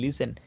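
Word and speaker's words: listen: এর উচ্চারণেই তাড়াতাড়ি করা এল আই এস টি ই এন লিসেন টি এর উচ্চারণ নেই লিসেন শোনা ও এফ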